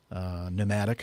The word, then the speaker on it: pneumatic: All these words are words that start with a certain letter, but they don't really sound like that letter at all, or the letter is silent. Pneumatic for P.